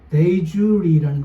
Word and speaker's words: de jure: 데이주리라는 거 들어보셨나요 혹시? 영어로 D-E, 대. 그 다음에 한 칸 띄우고 J-U-R-E. 그래서 데이, 발음은 브런치, 데이주리 이렇게 읽어요.